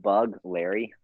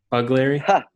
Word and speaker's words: Begleri: I don't know if it's correct, but Begleri, You can just pronounce like bug Larry. Bugleri, Begleri, and just say it fast.